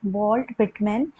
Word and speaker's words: Walt Whitman: क्या है pronunciation? वॉल्ट विटमैन।